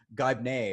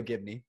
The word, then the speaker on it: Gibney: But it's not that hard to pronounce. Gibney, right? There you go. Yeah. Okay, all right. Because you never know. Somebody might. It's actually Gibney or something.